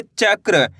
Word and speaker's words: चक्र: चक्र। एक बार फिर से देखिए। च क में र पदे एन की मात्रा क्र। तो मिलके बन जाएगा चक्र।